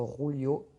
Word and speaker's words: Julio: Et Julio, il a préféré laisser rebondir cette balle. On prononce peut-être Rulio.